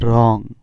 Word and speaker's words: wrong: তাহলে উচ্চারণ হবে, ডব্লিউর উচ্চারণ হবে না, কারণ আমরা জানি ডব্লিউর পর এস বা আর থাকলে ডব্লিউর উচ্চারণ হয় না, তাই এখানে হবে রং।